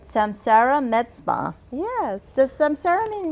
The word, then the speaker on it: samsara: let me make sure I say it right samsara meta yes does samsara mean rebirth yes it